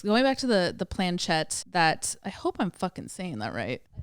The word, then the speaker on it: planchette: to say this going back to the the planchette that I hope I'm saying that right all right Google said I pronounced it right the planchette it was in 1100 A.D it was it